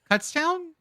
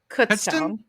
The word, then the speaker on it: Kutztown: Kutztown? Kutztown.